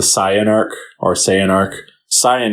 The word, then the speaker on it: Saiyan: Saiyan is the correct way to pronounce it. Yeah. Oh, is it really? Yeah. Oh, I didn't even know that. In the Japanese version, it's Saiyajin. Saiyajin.